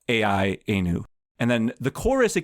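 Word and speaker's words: AI-anu: about AI and is called I-Anu, A-I-Anu, rhyming with Dayenu.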